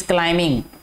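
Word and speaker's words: climbing: Sana is क्लाइंबिंग, क्लाइंबिंग, क्लाइंबिंग नहीं पढ़ना इसको मेरा बेटा, ठीक है, बी साइलेंट है।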